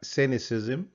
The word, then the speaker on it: cynicism: لكن أنا عايزك تشوف السي الثانية بننطقها كيف. السي الأولى بننطقها زي ما هي في الاثنين. في الأولى بننطقها cynicism، بننطقها س. الثانية بننطقها سينيكال ك ك.